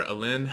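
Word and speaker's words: Aline: up we have aleene this is or a lin i think is how it's pronounced i yeah um so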